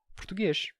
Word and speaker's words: português: então por isso que na pronúncia portuguesa eh uma palavra como português se pronuncia português e é uma redução